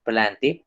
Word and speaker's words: plantae: Entonces, porque acá, ojo, en latín esto no se dice plantae, ay, no se dice plante, ¿listo? La A y la E suenan como una E, ¿sí?